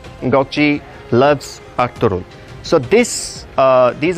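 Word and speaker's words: Gökçe: a more difficult aim that you need to pronounces goji goji loves octoroon so this these are that some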